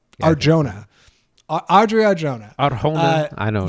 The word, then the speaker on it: Arjona: uh Madison play audrea Arona I think is how you say is it really Arjona that's that's that that's the pronunciation Arjona Audrey arjah Aron I